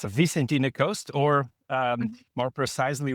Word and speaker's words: Vicentina: Can you pronounce it for me, Joelle? Then sure, it's a Vicentina coast or um more precisely where we were in the fisherman's trail.